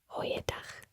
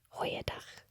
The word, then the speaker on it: Goeiedag: Now, if you're going to do the formal version, you would say Goeiedag. Goeiedag. Goeiedag. Goeiedag. And that means good day. As you notice, there is that throaty sound for dag.